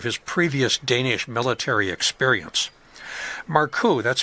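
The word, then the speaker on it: Markoe: Maru, that's spelled M A R K O E, had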